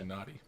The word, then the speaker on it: Tsunade: Sunadi? How do you say that? Tsunade.